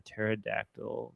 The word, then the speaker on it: pterodactyl: Why can't you hear a pterodactyl going to the bathroom? I feel like you I got this one. Go ahead. Cuz the P You're on The P is silent.